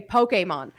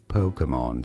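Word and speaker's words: Pokémon: say it as Pokemon Pokemon so the emphasis is always on the first syllable but the middle syllable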